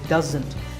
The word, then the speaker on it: doesn't: It's pronounced doesn't. There's a Z sound there. It's not an S sound, so doesn't.